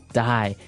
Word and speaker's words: dye: you're dying it okay dye so it's pronounced exactly the same way as you know to die to not live anymore die but it's spelled